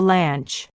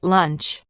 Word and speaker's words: lunch: slips ranch and lunch don't say i'm at the lanch or let's eat ranch instead say i'm at the ranch and let's eat lunch don't say instead say